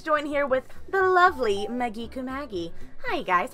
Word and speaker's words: Maggi Kumagi: My name is Biosicc and I am here with the lovely Magicu Magi. Oh god, you can't pronounce it, you poor thing.